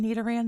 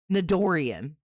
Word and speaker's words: Nidoran: Like how he would mispronounce it. What was he calling Nidoran the other day? Nidorian.